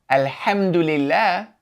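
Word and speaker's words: الحمد لله: However, if we look at this word here, alhamdulillah, we do pronounce this as a, alhamdulillah, because it is beginning speech.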